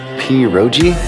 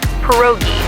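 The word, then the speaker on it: pierogi: Peroi. Did I pronounce that right? It's pronounced perogi.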